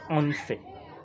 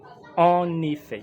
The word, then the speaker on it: en effet: Il ne faut pas lire en fait. Il faut plutôt lire en effet. Il faut prononcer en effet. Pas en fait.